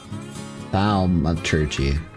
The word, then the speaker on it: thaumaturgy: Thermaturgy? Am I spelling that right? No, it's thaumaturgy. Thaumaturgy.